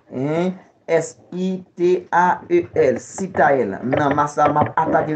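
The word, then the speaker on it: Sitael: Sitayel s'écrit. Hein, S-I-T-A-E-L, Sitayel.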